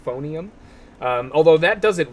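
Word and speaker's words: Phoneum: the other one is phonium but spelled like a phone p-h-o-n-e-u-m phonium um although that does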